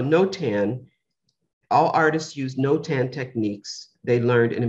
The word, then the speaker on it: notan: seen in the program no tan which is spelled n-o-t-a-n with an accent over and over that looks like the long sound uh and i can't